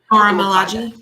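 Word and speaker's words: Milaje: But they're part of and I always pronounce this wrong too, but that all-female warrior group. Malaji.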